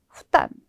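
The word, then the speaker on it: 負担: 아래 하자에 이 개자 발음 의외로 많다라는 거 기억을 해두시면 되겠습니다. 네, 다음은 부담이에요. 부담. 부담은 후담, 부담.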